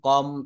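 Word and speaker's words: comb: word বা শব্দের ভিতরে যদি এম এবং বি পাশাপাশি থাকে এম এবং বি পাশাপাশি থাকে তাহলে তার উচ্চারণটা আমরা ওই শেষের বি টা বলা যাবে না যেমন বম কম থাম্ব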